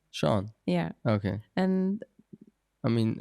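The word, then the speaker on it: Sean: an Irish English name wow okay and his pronunciation is completely different what is his name Shawn Shawn yeah okay and I mean yeah for some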